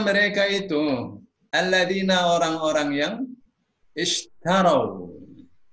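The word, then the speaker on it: اشتروا: Ulaika, mereka itu alladzina, orang-orang yang ishtarau. Jadi bacanya bukan ashtaro tapi ishtaro. Kenapa huruf tengahnya A ya? A atau I huruf tengah itu alifnya dibaca I ya.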